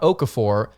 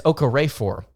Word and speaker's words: Okorafor: Emmanuel it's not Okafor, it's Okorafor or Okorafor.